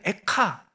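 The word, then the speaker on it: איכה: 사람들이 한자를 모르니까요 유대인들은 에카 거의 똑같죠 근데 발음은 거의 비슷한데 의미도 조금 비슷해요 이게 히브리어로 에카가 어찌하여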